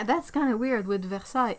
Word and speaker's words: Versailles: Because yeah, if you try to pronounce every single letter of Versailles, you're gonna end up with a really weird word. But the thing is that the A-I-L-L-E-S, it's one sound.